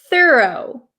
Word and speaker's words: thorough: Okay, I pronounce this word thorough, thorough, thorough, thorough.